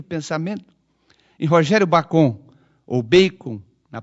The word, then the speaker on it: Bacon: Em Rogério Bacon, ou Bacon, na pronúncia certa, há de ser um daqueles filósofos